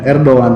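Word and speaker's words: Erdoğan: Erdogan ini Erdogan ya, bacanya Erdogan bukan Erdogan karena Yunus Takbih, jadi G-nya nggak kebaca. Erdogan ini dia itu mungkin keislamannya kuat dan Islamnya kuat ya.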